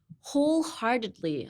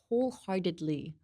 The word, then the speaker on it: wholeheartedly: Wholeheartedly. Oh, that's so much worse. Wholeheartedly. I guess the diddly part is hard. Diddly. Kind of sounds like Italy. Diddly. Say Italy, but with a D.